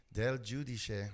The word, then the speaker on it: Del Giudice: It's Italian. Italian. My dad was Italian, so Del Giudice, that's our last name. So Del, not Del, Vel, right? Del Giudice.